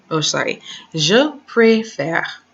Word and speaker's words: préfère: Je préfère. Je préfère. Because of this first E with the accent in that direction.